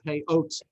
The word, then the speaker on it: payot: Payah is singular, payot is plural, pronounced in the modern Israeli way. Pronounced in the Ashkenazi way, it would be payos or payas, and that's why it's these.